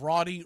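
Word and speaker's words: Raudy: was a guy by the name of of Rody Reyes it's spelled r a u d y Rody Reyes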